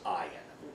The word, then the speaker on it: Ian: ayan groom pretty much like I got spelled Ian but it's pronounced I am yeah he's like the head of this copy